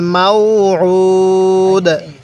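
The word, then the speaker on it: الموعود: এই আইনটার মধ্যে একটু চাপ দিয়ে পড়ব। যদি আইনটার মধ্যে একটু চাপ দিয়ে পড়ি, তাহলে আইনটা সহি উচ্চারণ হবে।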